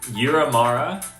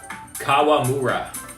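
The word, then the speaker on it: Kawamura: Yuki is the Yuki Yuramara. Is that how you say it? I keep pronouncing his last name.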